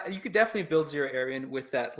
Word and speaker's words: Xira Arien: It's Xira Arien, correct? Xira Arien. Yeah, Xira Arien.